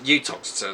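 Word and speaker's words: Uttoxeter: Burton and Utoxeter, as apparently I found out is pronounced when I went there for the marathon, and Stafford as well.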